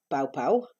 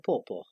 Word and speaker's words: Dr. Pawpaw: Et donc, c'est pas pow pow, c'est pas popo, c'est pawpaw. D'accord? C'est Dr. Pawpaw. Et pawpaw, c'est juste un autre mot pour papaye en anglais. On utilise papaya ou pawpaw.